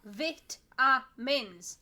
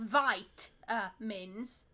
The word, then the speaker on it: vitamins: you need to stop put the syllables out vit ah mins not vite uh mins or vitamins because it's